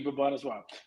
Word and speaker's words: Bhubaneswar: In 4 different cities: Mumbai, New Delhi, Bengaluru, I guess that's pronounced it, and Haba, I can't pronounce that one. Initially, Bhubaneswar. Thank you, Bhubaneswar.